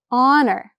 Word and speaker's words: honor: An honor. Remember before we saw our, and the H in honor and our is silent, so it starts with the vowel sound, so an honor.